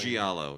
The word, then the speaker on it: giallo: I forget how to pronounce this. Giallo? What's the Italian? Giallo, yes.